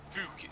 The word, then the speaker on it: Fook: Fook is his name. Fook. Yes, rhymes with Duke.